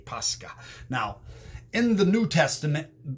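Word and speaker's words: Pascha: called pesach pesach and in greek which the greek gets its origin from the hebrew it's called pasca pasca and it's spelled in english modern english as p-a-s-c-h-a posca now in the new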